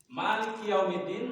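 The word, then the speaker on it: مالك يوم الدين: Maliki Yaumiddin maknanya dibaca panjang. Dalnya di dalnya itu ada tasydid harus dibaca.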